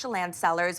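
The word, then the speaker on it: Tsillan Cellars: And so you'll notice that yes, it's pronounced Chelan Cellars, but it's spelled with a T, and that is actually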